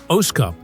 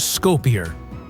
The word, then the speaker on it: Skopje: While Muslims pronounce it Oskup, the city is widely known around the world as Skopje.